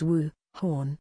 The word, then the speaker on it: Wuhan: the p is silent wuhan the chinese city which first recorded coronavares cases was also commonly mispronounced this year and should be said as wu horn kamala harris who became